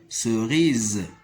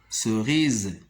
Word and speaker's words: cerise: en prononce e mais à la fin du mot il ne se prononce pas comme le mot cerise cerise et aussi dans le